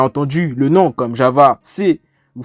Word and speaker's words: C#: Donc vous avez peut-être déjà entendu le nom comme Java, C ou C++, prononcé C++, et C hashtag qui est prononcé C#.